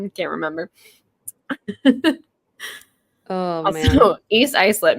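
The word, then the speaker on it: East Islip: can't remember oh man East ielp not spelled the way it's pronounced any listeners out there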